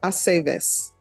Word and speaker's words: Aceves: I never know what to do with the V's either. With what, ma'am? The V's, in the names to pronounce it correctly. It's always ve. Ve, Aceves. Okay.